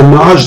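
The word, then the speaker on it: Najd: a long-standing tribe and it's spelled m-a-d-j but pronounced the nazda nasdaq well the naj that had the uh a certain type of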